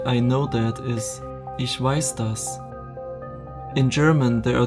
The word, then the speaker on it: ich weiß: listen conjugation ich weiß du weisst ases vice via bisson yah vest see vism this verb needs the accusative case therefore the correct way to say i know that is ich weiß toss in German there are two words with